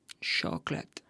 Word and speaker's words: chocolate: family family family family it's like the word chocolate chocolate is to say it with two syllables chocolate chocolate do you